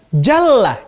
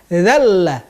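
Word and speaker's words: جلّ: Ada orang membaca dengan jalla, jalla, artinya agung. Tapi ada orang yang membacanya dengan kata-kata zalla, zalla, artinya apa?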